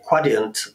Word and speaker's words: Quadient: I was at a Quadient, or Quadient, I think is the way they tell me I should pronounce it, webinar recently, and we were discussing